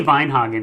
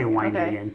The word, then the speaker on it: Weinhagen: It would be Weinhagen in Germany, but I say Weinhagen to really Midwestern it.